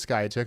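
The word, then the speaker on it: Skiatook: there I guess I I actually knew that that was Sky took caught myself saying it wrong figured we'd test her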